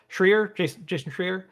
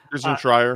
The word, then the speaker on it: Schreier: I think I was seeing, I always forget how to say his name, Jason Schreier. Jason Schreier. Schreier.